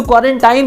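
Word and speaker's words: quarantine: तो क्वारंटाइन तो आपको बहुत क्लियरली पता है, मैं इसको प्रॉपर्ली क्वारंटीन बोलूंगा।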